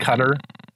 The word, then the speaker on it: Qatar: While we're pronouncing things correctly, is it not cutter? Yeah, it is. But it just sounds wrong from us.